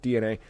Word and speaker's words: DeNA: Because we're no, it makes sense because we're talking about Nintendo partnering with DNA. That is DENA, but pronounced DNA.